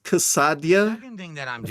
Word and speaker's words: quesadilla: Um, it's pronounced cassadia.